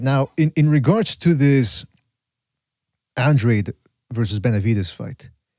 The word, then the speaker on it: Andrade: from what I understand, he prefers to be called Andrade because he's half Panamanian or something, but he doesn't like it when people pronounce his name with the Spanish pronunciation.